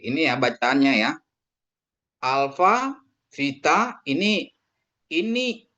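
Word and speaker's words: βήτα: Bacanya Vita transliterasinya V viktor ya. Transliterasinya V atau viktor untuk kata PQ ya.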